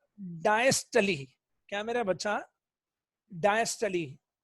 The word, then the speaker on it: diastole: डायस्टली। लिखने में डायस्टोल, लेकिन बोलने में डायस्टली। डायस्टली, कुछ लोग डिस्टली भी बोलते हैं, डिस्टली।